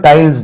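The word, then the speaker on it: tiles: இ அப்ப கீழ போடக்கூடியதும் டைல்ஸ் தான் ரைட் டைல் டைல்ஸ் சொல்றீங்க டைல்ஸ் இதை எப்படி எழுதுவீங்க பக்னிட்டிக் சிம்பல்ஸ்ல டைல்ஸ் டைல்ஸ் ஜெட் போடணும் டைல்ஸ் எஸ் போடக்கூடாது டைல்ஸ் எல்லாம் நல்ல புது டைல்ஸ்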